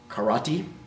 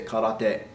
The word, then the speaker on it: karate: you hear it say you hear it said karate alright or Crotty right if you want to sound like you at least understand Japanese a little you might want to say cut off day right caught on empty day and cut off